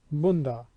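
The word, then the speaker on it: बंदा: In the phonetic pronunciation, example banda, which means servant, and its phonetic equivalent bunda.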